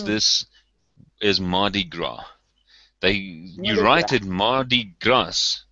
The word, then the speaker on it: Mardi Gras: The way we pronounce this is Mardi Gras.